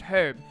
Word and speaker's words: herb: just like his pronounced herb and then I was like how do you pronounce err like you know hei our and he pronounced it without the H I was like oh